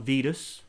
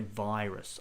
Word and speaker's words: virus: virus uh so that's got a diphthong in there the eye again not vedas i know that in some languages they have a the the equivalent word is this very similar but they would pronounce vedas um but we say virus i the i sound um so yeah that's